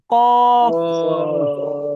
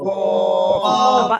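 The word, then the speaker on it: ق: ফা কফ আমরা অনেকে এভাবে অনেকে এভাবে বলতেছি কফ মুখ মিলিয়ে ফেলি মিলাবেন না কফ কফ আমার মুখে খেয়াল করেন কফ কফ মাশাল্লাহ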